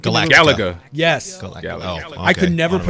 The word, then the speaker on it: Galaga: So it kind of reminded me of like classic arcade games like Invaders or like Galaxico. Galaga. Yes. Galaga. Oh, I could okay. never pronounce it as a kid.